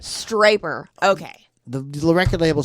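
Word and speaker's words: Stryper: lame I know but that's why striper rhymes with hyper the hell with the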